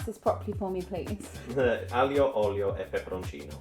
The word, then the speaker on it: Aglio Olio e Peperoncino: Can you pronounce this properly for me, please? Aglio Olio e Peperoncino. Aglio Olio e Peperoncino.